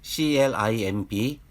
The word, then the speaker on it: climb: 먼저 CLIMB부터 말씀드리면 알파벳 C가 자음 앞에 있으므로 한글 자음 키역으로 새겨지고 알파벳 L은 한글 자음 리을을 양쪽에 넣어주고 알파벳 I는 I로 그리고 알파벳 M은 한글 자음 미음, 알파벳 B는 묵음으로 그리고 자음 키역과 자음 리을 사이에 모음이 없으므로 공짜 모음 을을 넣어주고 뒤는 보이는 그대로 읽으면 climb 정도로 읽으실 수 있습니다.